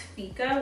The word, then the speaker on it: fika: And it said, it's pronounced fika, which is Swedish.